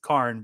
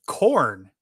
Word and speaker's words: Khorne: to go for, well, some people might pronounce it Karn, which would be short for carnal or charnel or whatever, whichever one's the brutal one, not the reproductive one. But they named him Corn.